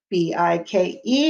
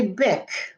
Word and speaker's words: bike: together bike i bike b i k e make sure you put the e at the end or it will say bic we want it to say bike b i k e